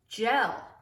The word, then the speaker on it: gel: it's at the beginning it's bumping in e so that's going to turn it to soft g j l gel put the hand sanitizer